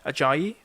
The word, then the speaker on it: Ajayi: could probably think about having Sam Johnston, maybe Ajayi, that's how you pronounce the name, the one who scored against Liverpool.